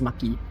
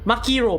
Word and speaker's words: Maki: been pronouncing it as Maki okay remember makiro makiro hey think of her as a freaking piece of sushi she is Sushi Maki so yeah I I